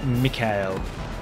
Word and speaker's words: Mikhail: online is so lame your name in English is pronounced Mikhail okay I'll try to